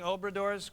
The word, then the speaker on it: Obradors: Am I pronouncing Obradors correctly?